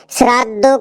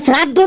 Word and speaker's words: শ্রদ্ধা: তাই তাই মা-বাবাকে মা-বাবাকে শ্রাদ্ধ করতে হয়। মা-বাবাকে শ্রাদ্ধ করতে হয়। কি উল্টোপাল্টা উচ্চারণ করছিস। ওটা শ্রাদ্ধ না। ওটা দেখ লেখা আছে শ্রদ্ধা। শ্রদ্ধা।